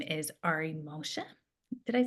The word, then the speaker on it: Ari Moshe: His name is Ari Moshe.